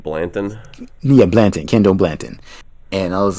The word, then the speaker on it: Blanton: other unsung hero that was really unsung hero, Blandon. How do you say his name? Basically, our backup tight end. Because when Higby went down, I was like, ugh, like Looks like Blanton. yeah, Blanton, Kendall Blanton.